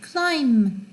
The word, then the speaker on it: climb: 그 다음 B가 사일런트일 때가 있어요. 언제? 문장의 뒤에 올 때 climb, comb, thumb, bum 이거 없어요. climb 이거 있으나 없으나 마찬가지예요. 발음이 climb, comb, the come 할 때 그렇잖아요. 근데 그때 come이라고 안 하고 여기서는 comb이라고 발음되죠.